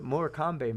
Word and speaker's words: Morecambe: I got to look up what Morecambe means. Morecambe, that's how it's pronounced. You don't know that? It's in England, you weirdo.